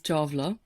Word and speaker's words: Chawla: The traditional pronunciation is Chawla, but Chawla. Chola is a good anglicized one.